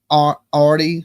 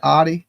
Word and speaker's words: Audi: He is on the run in a white arty with Texas. Is that how you say it? Audi. Audi. I said Arty.